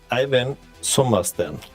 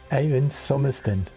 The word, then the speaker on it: Eivind Sommersten: Very strange hang-up, but it's pronounced Eivind Sommersten. Eivind Sommersten. However, I would like to add that it's perfectly okay to sort of English it by.